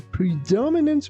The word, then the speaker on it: predominant: Before cars were invented, horses were the predominant method of travel. Please be careful not to pronounce this word like predominant or something like that. We say predominant.